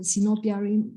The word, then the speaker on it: sinopia: i have this title sinopia rhymes with myopia rhymes with diablo rhymes with myopia myopia it's um i i